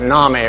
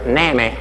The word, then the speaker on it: NAMI: No coincidence that NAMI rhymes with mommy. Except in Alabama, where it's NAMI rhymes with Mammy.